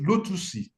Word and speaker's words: lotusi: in my Euroba growth the what we say is lotusi lotusi so it's like pronouncing lotus in the um with the euroba vwells so when you when